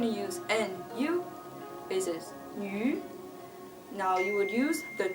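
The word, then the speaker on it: ü: And then they have an extra special case with a u that has two dots over it. It is pronounced yu, yu.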